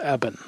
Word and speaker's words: Eben: I believe it's pronounced Eben.